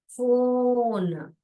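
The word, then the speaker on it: phone: नहीं तो अभी भी आप सीख सकते हैं, पीएच को फ बोलते हैं, फ, फ, फ, ओन, फोन।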